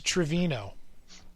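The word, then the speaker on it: Treviño: though it's spelled travis don't spell trovino it is trevino uh okay trevino got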